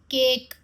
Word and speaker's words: cake: Sound दे रहे हैं, केक। तो इस केस में जो हमारा ई है वो साइलेंट हो गया।